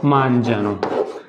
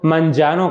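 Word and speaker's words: mangiano: है मन जाते, लोरो मांजानो, प्रोनाउंसिएशन पे गौर कीजिएगा, ठीक है, क्योंकि आप बोल समटाइम आप लिख भी लेते हैं पढ़ भी लेते हैं, आप बोल नहीं सकते तीज, तो लोरो मांजानो कहते हैं, कहीं मांजानो नहीं है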